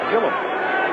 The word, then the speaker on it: Gilliam: How do you pronounce his name? You say Gilliam. Joe Gilliam. And yet it's listed in the pronunciation guide and other places, and for years I've heard it pronounced Gilliam. Well, he always answered to Gilliam in Pittsburgh.